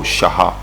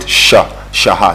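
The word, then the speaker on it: Chaha: Oh, Shaha. Yeah. Oh, it's C-H, Yeah. but you pronounce it Shaha.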